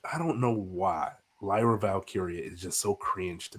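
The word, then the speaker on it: Valkyria: Valkyrie, I can't pronounce it. Lyra Valkyrie. Lyra Valkyia.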